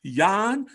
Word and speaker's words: Jan: is the polish powerhouse yawn you got to say it right young it's time to start pronouncing it the correct way the polish powerhouse i